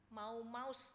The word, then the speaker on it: Mau Maus: Dia adalah seorang pemimpin geng Mau Maus. Ya. Mau Maus, ya, bacanya begitu, ya. Mau Maus, ya.